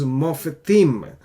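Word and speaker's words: מופתים: Okay, now another word that we have, which is wonders, is mofetim. Mofetim, we say mof, slightly we pronounce the schwa. This is a vocal schwa because this previous vowel is long.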